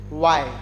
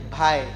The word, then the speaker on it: why: By making our lips round, we have to pronunciate it why. Some people pronunciate this Y like bhai. This is not the correct pronunciation.